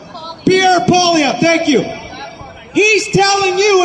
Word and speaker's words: Poilievre: And Poilievre, you know, what's that? What's his name? How do I pronounce? Pierre Poilievre, thank you.